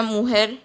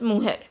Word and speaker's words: mujer: Esta mujer, J is pronounced as hota in Spanish, so it is pronounced as mujer.